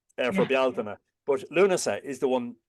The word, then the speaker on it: Bealtaine: It's not pronounced Samhain, but or Beltane for Yeah. Bealtaine.